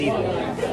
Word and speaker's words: Ethan: My name's Ethan. Ethan. Like T-H? Yeah, T-H. Uh-huh. Wait, well, what's the other way? Maybe just P. I don't know. That's how my parents say my name.